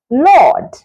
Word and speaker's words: laud: Words like laud. Now, this laud has the same pronunciation as L-O-R-D. Laud, Lord.